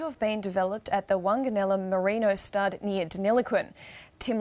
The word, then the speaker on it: Wanganella: Tim, am I pronouncing it right? Wanganella, indeed.